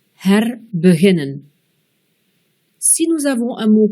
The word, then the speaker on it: herbeginnen: Dans un mot commençant par H-E-R et qui est composé de trois syllabes ou plus, le E sera bref, comme dans herbeginnen.